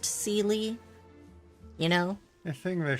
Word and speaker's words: Seelie: You know, I think Zila's name would be less confusing if we hadn't been exposed to the Seelie of Genshin, which are always pronounced Seelie.